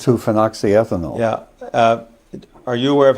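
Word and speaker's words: 2-phenoxyethanol: How do you pronounce? Two phoxy ethanol.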